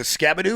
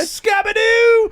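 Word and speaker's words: Skattebo: It's Scabado. But they're like, Scabadoo sounds fun. And you're like, but it's not the spelling. There's one O.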